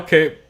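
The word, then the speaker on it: Kape: Minel Cape won. Also, I think his name is pronounced Cop, but I refuse because fuck pigs.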